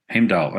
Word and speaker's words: Heimdal: stuff it up so you correct my my pronunciation uh he he heal h e i m d himal okay there you go what first of all